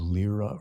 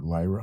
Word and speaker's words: Lyra: in the constellation of Lyra or Lyra, however they want to pronounce it, Lyrans, Lyrians, what have you.